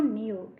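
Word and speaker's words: knew: N-E-W, new. Here K-N-E-W, new. Here K is a silent letter.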